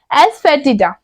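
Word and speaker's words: asafoetida: हींग को इंग्लिश में हम लोग बोलते हैं एस फेटिड एस फेटिड आप लोग मेरे साथ बोलिए जिससे आपका प्रोनाउंस भी सही होगा एस फे टडा हींग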